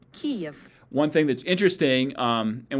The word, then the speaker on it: Kyiv: But this is how she pronounces this version of the name. Kyiv.